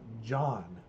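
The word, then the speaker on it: jawn: you have they have a term it's called John it is spelled j a WN it does not have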